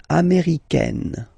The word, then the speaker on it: américaine: So when you talk about the nationality, américain, masculine form, un, américain, and then feminine form, américaine, américaine. Okay, it's really open, this AI, américaine.